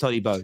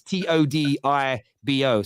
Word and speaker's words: Todibo: I think it's pronounced Todibo. It's Todibo. So I pronounce it as Todibo. It's probably not pronounced that way in French, but that's how I read it as being English.